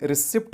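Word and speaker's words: receipt: गलत कहते हैं, क्योंकि इस वर्ड का सही उच्चारण रिसिप्ट नहीं होता है, क्योंकि यहाँ पर पी साइलेंट होता है और पी का उच्चारण हम इस वर्ड में कभी भी नहीं करते हैं।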